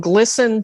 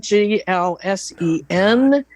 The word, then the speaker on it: GLSEN: um there's something called glsen g-l-s-e-n they that's also i know it's not glsen it's glsen they that's linked on